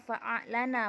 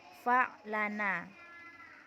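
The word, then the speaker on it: فأعلن: Jadi hamzanya tetap dibaca karena dia hamzah qata. Jadi bacanya fa'a'lana bukan fa'lana. Terus ketika terdapat pada masdar, contohnya akhraja yukhriju ikhrajan akhrij.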